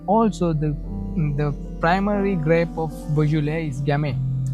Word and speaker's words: Beaujolais: So you call it Beaujolais. It's quite hard to pronounce. It's a Beaujolais. No, it's Beaujolais.